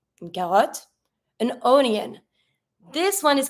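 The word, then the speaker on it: carotte: to pronounce it because we're going to pronounce the T and the O is going to be a little more close than what it is in English but we're going to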